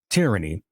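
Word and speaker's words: Teariney: I did not mispronounce, but it is spelled differently than what you might be thinking. Tyranny, T-E-A-R, as in a tear. Tear, I-N-E-Y, Tyranny.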